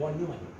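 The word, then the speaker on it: von Neumann: और ये जो है ना ये अच्छा ये बना जो है वॉन न्यूमन, इसको हम प्रोनाउंस करते हैं वॉन न्यूमन.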